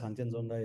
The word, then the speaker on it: Khangchendzonga: If you hear the monks pronounce it, it sounds completely different. So yeah, Yeah. Kanchenjunga is as good as it gets.